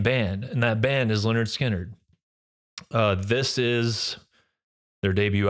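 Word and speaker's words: Lynyrd Skynyrd: shall we number one Leonard skinnard pronounce Leonard skinnard I remember hearing this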